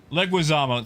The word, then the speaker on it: Leguizamo: but I hear the plots the exact same Leguizamo thank you Elko I'm really bad at pronouncing things oh I'm really bad at pronouncing